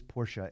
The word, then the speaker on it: Porsche: so in you know in German you pronounce kind of every letter so it is Porsche if I just said